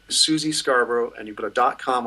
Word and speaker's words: Scarborough: Her name is Suzy Scarborough, and you put a .com on that. Suzy is spelled S-U-Z-Y. Scarborough, just like the fair, S-C-A-R-B-O-R-O-U-G-H.